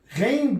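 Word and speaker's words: غين: Ghain basically is the way the French pronounce the letter R, like when they say France, la France. The letter R is Ghain, R. It's like you're gargling. When you gargle, that sound.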